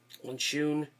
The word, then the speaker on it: Honshu: Was named after Bob Honshu, that's how you pronounce it.